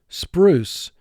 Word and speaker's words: spruce: Here, the silent E at the end of the word is causing the U to represent its long sound. Now, U is double underlined because it's representing its second long sound.